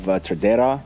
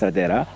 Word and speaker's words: Tradera: Like we have Tradera. That's how you say it. Tradera, yes. Tradera.